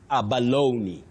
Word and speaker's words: abalone: That e at the end is not it is not silent. It takes that sound e that is the high front sound e. So you say abaloney. Abaloney. After saying aba you have a stress low then abaloney. That is the way to pronounce it.